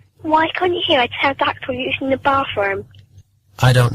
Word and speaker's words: pterodactyl: Why can't you hear a pterodactyl using the bathroom? I don't know. Because the P is silent.